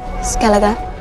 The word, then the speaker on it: Skellige: Then she pronounces Skellige correctly. Skellige.